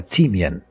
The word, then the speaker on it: timian: So, I'm Danish, and it's a timian.